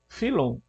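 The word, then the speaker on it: Fílon: com os escritos de filon de Alexandria que por exemplo filon né ou filon né alguns pronunciam assim philon um filósofo judaico do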